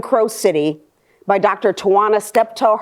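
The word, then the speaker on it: Steptoe: City by Dr toana stepto her name is spelled t y i n a s t e p t o e step toe and she she's at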